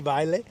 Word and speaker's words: Vejle: Vejle sounds very nice to say, even though there's a J in there, so not pronouncing the J, Vejle.